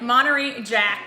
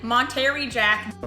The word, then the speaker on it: Monterey Jack: It has shredded Monterey Jack. That's not how you say it. Monterey Jack.